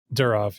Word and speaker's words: Durov: Telegram CEO Pavel, how do you pronounce his last name? Durov, yeah.